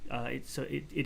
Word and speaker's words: a: Native speakers pronounce the indefinite article a. Is that right? No, we say I. So it would be like the phonetic transcription would be like a, the AI, as in but it's a diphthong sound. So it's a single syllable, but it's two sounds, but sort of joined together in the same syllable.